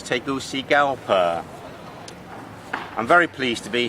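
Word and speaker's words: Tegucigalpa: a very big country the capital took me about a week to learn its pronunciation which was taking all see gal per I'm very pleased to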